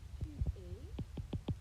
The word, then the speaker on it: tu es: Tu es, same thing, S is silent.